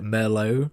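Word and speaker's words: Murlough: a weird name um I think he's supposed to be pronounced like Merlo like the wine but spelled differently but it's been too long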